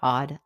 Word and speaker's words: AWED: Hi, I want to welcome you to the Odd Life Podcast. That's spelled AWED, which stands for Awake, Well, and Empowered.